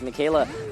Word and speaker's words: Michele: apologies for mispronouncing his name it is actually pronounced Mikayla so my apologies for that one luenell is